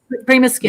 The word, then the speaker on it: PrimaSkin: PrimaSkin.